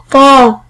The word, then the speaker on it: ط: طاء. طاء. طاء. طاء. طاء. حرف الطاء مثل كلمة طاء. طبيب. طبيب. طبيب. طبيب. طبيب. والفرق بينه وبين حرف التاء أن حرف التاء مرقق، أما حرف الطاء مفخم.